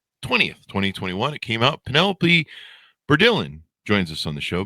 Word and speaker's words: Bourdillon: Last name Bordillan.